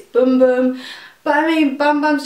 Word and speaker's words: Bum Bum: I've been confirmed that it's not bum bum cream that's not how you say it it's boom boom but I mean bum